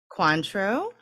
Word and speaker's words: Cointreau: But what this has in it is bourbon, nice, Cointreau. Is that how you say it? Cointreau?